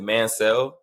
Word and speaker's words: Manciel: Me and my family, we pronounce it Mancel, like M-A-N and then S-E-L-L, like Mancel. I've heard Manciel. I've heard Manciel.